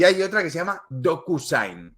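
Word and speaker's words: DocuSign: otra que se llama docusain es decir doku como documento y Sign que se escribe s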